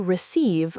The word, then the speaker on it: receive: Did you receive my attachment? Deep dive. Receive. Stress the second syllable.